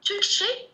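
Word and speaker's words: Türkçe: هذاك اللي نسموه سي هذيك تنقرا تشي تنقرا تشي قرينها جي طيب توني داكو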